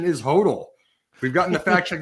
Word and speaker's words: HODL: been fact checked i believe the next correct pronunciation is hodl we've gotten the fact check that it is pronounced total for hold on uh apologies i said hot earlier a correction to my mistake earlier in